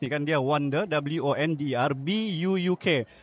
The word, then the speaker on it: buuk: kan, dia Wonder, WONDER, BUUK. BUUK ni kan buuk bah. Okay, dia dalam bahasa dusun lah, dia maksudnya buku. Dia macam bahasa Inggeris kan, tapi cara pronounce dia buuk.